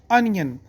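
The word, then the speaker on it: onion: बाज़ का लोग कहते हैं ऑनियन, ऑनियन नहीं है, इसका बेस्ट प्रोनाउंसिएशन है अनियन।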